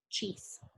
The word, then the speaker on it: cheese: Esta E no tiene sonido. Como no tiene sonido, nos basamos solamente en el que se pronuncia acá, cheese.